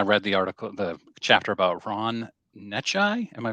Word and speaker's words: Necciai: This morning I read the chapter about Ron Necciai. Am I pronouncing that right? That's right. Necciai.